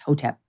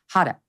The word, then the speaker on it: Hotep: uh I like it it took me a while to pronounce it correctly so I practiced hotep I thought first I thought it was hotter like no not not